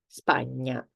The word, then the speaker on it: Spagna: Spanish, for example, you've heard this sound in Spanish, which is the N with the little hat on top. So this is ñ. And we have some examples. Campagna, ogni, Spagna.